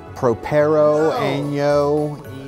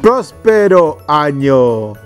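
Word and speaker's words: Próspero Año: Feliz Navidad, Propero Año. Prospero Año, say it right.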